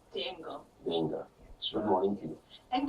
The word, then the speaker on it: d'Engle: help me pronounce the second name? Denga.